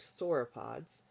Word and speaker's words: sauropods: dinosaurs were the long-necked sauropods, you don't say it again, sauropods. That's just there for you as the reader to know how to say it when you say it here.